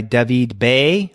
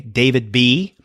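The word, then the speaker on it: David B.: and this is by Devi Bay or for those who want to pronounce it in an American Way David B it came out on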